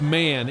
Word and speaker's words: Mann: He says it's Mann, M-A-N-N.